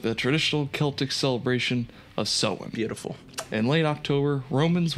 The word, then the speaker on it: Samhain: With the traditional Celtic celebration of Samhain.